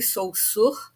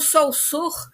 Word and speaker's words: Saussure: Então, o Saussure, na verdade, a pronúncia não é exatamente Saussure, mas é que eu me habituei a, a usar essa pronúncia em relação ao nome dele, né?